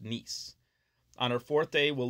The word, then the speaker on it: Nice: nice spelled as if you would say it nice but it's pronounced nice on our fourth day we'll leave France and